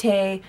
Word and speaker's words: Hecate: to be covering the goddess hect heate he however it is that you want to pronounce it and it's also spelled